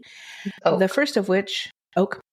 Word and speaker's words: Oke: to now, by Janet Oke, or Oki, I'm not sure how you pronounce that, O-K-E. Oak.